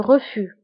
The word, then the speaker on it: refus: هنا أيضا le refus كنكتبوها بأس في آخر الكلمة ولكن لا تنطق. le refus.